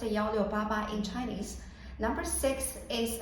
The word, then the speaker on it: 1688: first for this website so 1688 is literally pronounced yo yo baba in chinese number six is associated with good